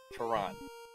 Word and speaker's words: Ferran: Ferran. Yes, putting the emphasis on the right syllable.